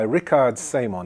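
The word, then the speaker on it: Richard Semon: Okay, now let's go and look at the work of this guy Rickard Simon. He's German, so that's how you pronounce it.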